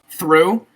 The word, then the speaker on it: through: other words um well there's plenty like uh through okay well um what are all right like